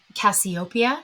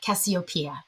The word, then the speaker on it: Cassiopeia: And up until recently, I would have called this one Cassiopeia, but I believe that some coaching from some Greek friends in my life has me now pronouncing it Cassiopeia.